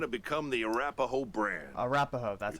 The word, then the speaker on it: Arapahoe: Arapahoe, that's how We you pride pronounce it.